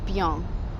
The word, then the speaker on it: bien: Now, that's also a tricky one for Spanish speakers because we say bien for good when, and in French it's bien. So watch out for that.